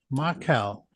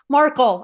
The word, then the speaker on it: Markel: Um, let's welcome Marcel. That did I pronounce that right? Markle actually, if that's close enough.